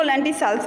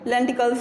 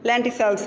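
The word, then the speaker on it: lenticels: इनको लेंटिसेल्स बोलते हैं, लेंटिकल्स भी कुछ लोग इसे बोलते हैं, प्रोनाउंसिएशन में लेंटिसेल्स बोलते हैं।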